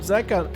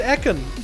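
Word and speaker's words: Zekhan: I want to say Zekon. It's a 3. That's why I called it Ekon. But also the 3 looks like another letter. Zekon is Zekon. Okay, chat confirms Zekon. So I've been saying it wrong.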